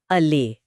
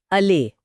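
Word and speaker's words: allay: इसका उच्चारण है अले। अले और इसका मतलब इसका सीधा सा मतलब है किसी नकारात्मक भावना या तकलीफ को शांत करना या कम करना।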